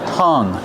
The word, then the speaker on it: hung: How do we pronounce hung? Use a short uh sound like cuff and up. H- hung. And then the nasal sound for the ng. Hung. No hung. There's no G sound.